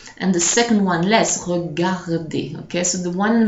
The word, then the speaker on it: regarder: Or the word regarder, for example, it has two R. You're going to hear the first one more, re, and the second one less, regarder.